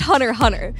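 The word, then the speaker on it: Hunter × Hunter: what's your favorite anime hunterx Hunter okay so here's where the concern is MHM it's pronounced Hunter Hunter so I worry that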